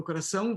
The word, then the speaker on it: coração: Coração valente. But you have the diphthong and then the nasal ing, right?